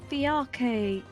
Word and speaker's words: fiacre: So yeah, Yeah, it's literally fiacre. taken from the Irish word. Or the Irish Is name. it? Well, by the pronunciation of it, it is. Like, fiacre. Fiacre is how you say it in Irish. Mm. Though it's also a French thing, Hôtel Saint-Fiacre. And in Vienna it's called a Yeah, fiacre.